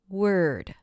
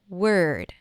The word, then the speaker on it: word: Word. Try it with me. Ward. With an A. Word.